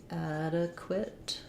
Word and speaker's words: adequate: um a question about the word adequate adequate we have first syllable stress the black cat vowel and uh and then this q u says qua um we have